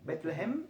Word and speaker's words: Betlehem: Betlehem es dicho en hebreo, ¿está bien? Betlehem, ¿sí? Así se dice, Betlehem.